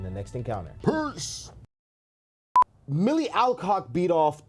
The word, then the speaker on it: Alcock: I wish I never knew how to pronounce her name because I was calling her Alcock. Now I know it's Alcock.